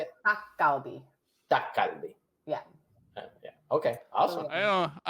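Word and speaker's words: 닭갈비: Dakgalbi.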